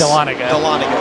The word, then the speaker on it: Dahlonega: I tried to get Da-Lon-Aga. Yeah, the Aga might be... Iga. Yes. Dahlonega.